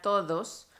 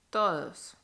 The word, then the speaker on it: todos: Por ejemplo, en la palabra todos, cuando estamos hablando en una conversación normal, la D casi no suena. Todos, todos.